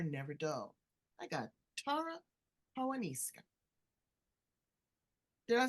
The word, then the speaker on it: Paonessa: I got Tara Paonessa.